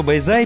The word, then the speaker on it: Bãi Dài: Дело в том, что Bai Zai пишется с буквой D, но читается она по правилам вьетнамского языка как Z.